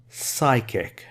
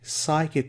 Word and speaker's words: psychic: This is pronounced as psychic, no P, psychic connection.